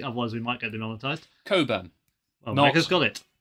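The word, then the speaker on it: Cockburn: So I'm going to be slowly opening our bottle of port, which is the name I will pronounce correctly. Otherwise, we might get demonetized. Coburn.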